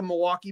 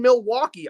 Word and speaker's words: Milwaukee: So again, Brian Anderson, you've been in Milwaukee. I know you don't say Milwaukee like the rest of us do because we don't pronounce the L here because we're too drunk to do it.